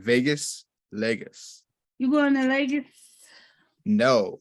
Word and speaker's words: Lagos: He was at Lago. Did I say Lago? Is it Lagos? I don't know. They're gonna come for you, know. Lagos.